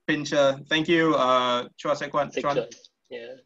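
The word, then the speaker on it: Pinscher: What weighs more, 8 miniature pincers or 1 Doberman pincer? Because last week the images of the dogs are not to scale. Yes, they are not. Kavit. Okay, so apparently they are pronounced pincher.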